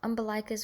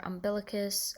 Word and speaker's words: umbilicus: The umbilicus or umbilicus, I'm probably going to pronounce it both ways, but I refer to the same thing.